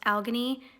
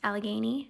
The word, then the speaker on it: Allegheny: you come at me and tell me it's pronounced algonie i have been specifically told that it is pronounced allegheny so don't come at me even if you